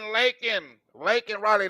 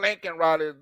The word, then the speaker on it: Laken Riley: to lak L lak lak Riley not Lincoln Ry is Joe B car I want to give a shout out to lincol Raley and it's not Lincoln Raleigh it's l Raleigh get it straight say her name